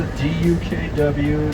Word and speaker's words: DUKW: But the type of vehicle this is called the DUKW. That's how we spell that. The C is absent, the W is silent.